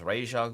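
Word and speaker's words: Ra's al Ghul: Razal Ghoul, go ahead and send him Razal. And then an arrow. The TV show Arrow. They were calling him. The pronunciation was raja for some of the people.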